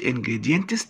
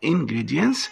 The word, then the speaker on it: ingredients: ingredients هنا التي لا تنطق، عشان لو قلت ingredients تبقى تقيله، فالتي لما يجي وراها اس في الاخر لا تنطق تخفيفا للنطق، يبقى ingredients مكونات.